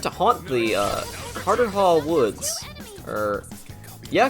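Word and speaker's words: Carterhaugh: fairy who was said to haunt the uh Carter Hall Woods or yeah cartera that's how you pronounce it cartera Woods in Scotland he supposedly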